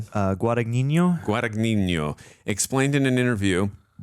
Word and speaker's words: Guadagnino: Guadagnino.